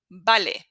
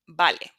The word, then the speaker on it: vale: Okay, moving on to letter B, which is exactly the same as letter V. They're identical twins in pronunciation. So you will not hear a difference.